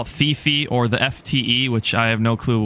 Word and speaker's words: TheftE: I know a lot of people call it TheftE or the FTE, which I have no clue why, but it's actually pronounced TheftE.